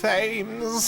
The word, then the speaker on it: Thames: Aaron Booth here, letting you know that Thames is pronounced Thames.